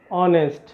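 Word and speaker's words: honest: এখন সেখানে একটা কনসোনেন্ট আছে, কিন্তু আমাদের উচ্চারণ করলে কি হয়, উচ্চারণ করলে হবে যে অনেস্ট।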